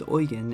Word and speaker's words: Eugen: is carried by prince eugen pronounced prince oygen and a tiny bit